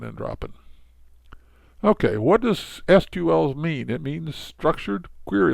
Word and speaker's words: SQL: dropping okay what does sql's mean it means structured query language it's pronounced sequel it's a domain-specific language and